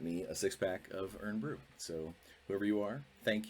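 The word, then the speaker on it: Irn-Bru: iron Brew earn Brew I always thought it was earn Brew but uh my my wife saw it and said what's iron brew and I'm like oh I think you added extra syllables I think I've mentioned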